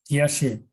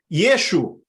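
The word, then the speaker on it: ישו: Yeshu. Yeshu. Yeshu is the name that people usually use to refer to Jesus. What Hebrew word we know that is similar to Yeshu.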